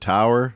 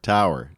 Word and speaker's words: Taur: premium design Tower t-a-u-r do you just want to pronounce it Tower like Minotaur Tower t-a-u-r top pick for premium